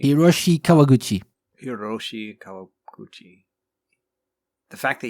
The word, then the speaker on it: Hiroshi Kawaguchi: Kawabushi? Hiroshi Kawaguchi.